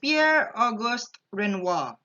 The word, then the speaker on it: Pierre Auguste Renoir: arena singing or earth so his name is Pierre Auguste Renoir it pronounced Astron wah because his French so therefore